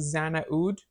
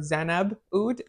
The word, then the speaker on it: Xnaboud: talking about today is I think it's pronounced Zan oud or zanab oud it's a UD fragrance I